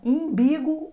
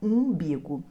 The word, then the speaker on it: umbigo: Imbigo, umbigo. A pronúncia correta é umbigo.